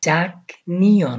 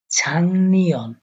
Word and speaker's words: 작년: যে উচ্চারণ সেটা হচ্ছে ছাংনিয়ন, ছাংনিয়ন অনুসার উচ্চারণ হবে। গিয়কের উপরে যখন নিয়ন আসে তখন এই গিয়কটাকে অনুসারের মতো উচ্চারণ করা হয়, তো ছাংনিয়ন, ছাংনিয়ন।